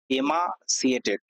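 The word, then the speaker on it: emaciated: তো কিওয়ার্ডের প্রথম ভোক্যাব আমাদের এমাসিয়েটেড। এমাসিয়েটেড মানে হচ্ছে থিন অ্যান্ড ওয়াস্টেড। ঠিক আছে, তো তুমি উচ্চারণ করো এটাকে এমা, মানে একটু রিয়াক্ট করো।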